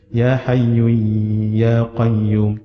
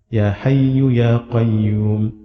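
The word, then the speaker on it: يا حي يا قيوم: Jangan Ya Hayyu Ya Qayyum, tak. Ya Hayyu Ya Qayyum, La ilaha illa ant.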